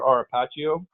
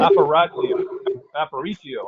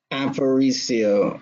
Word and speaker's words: Aparicio: Arapaccio. Oh, we don't know. You guys know her? No, I mean we are very. Let me apologize. Go ahead. Aparicio. I mispronounced her name. Aparicio.